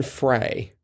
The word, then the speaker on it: Frey: I think it's pronounced Fry. It's F-R-E-Y, but it's pronounced Fry? Like the E is silent?